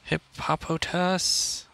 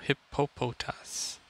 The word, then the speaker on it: Hippopotas: see what we get hip hop hotass i don't know how to pronounce it oh no hippopotas cool patos wow it's